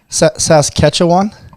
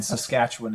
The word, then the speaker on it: Saskatchewan: How do you how do you pronounce pronounce it? I'm going to try Saskatchetawan. Wa is the name of the town. So Woda and then Saskatchewan is our province.